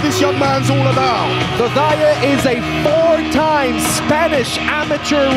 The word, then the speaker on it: Zozaya: that's how you say it by the way, Zozaya, what's right, Zozaya won the match last week,